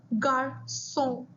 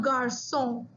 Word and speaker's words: garçon: C with a cedilla, which is pronounced like an S.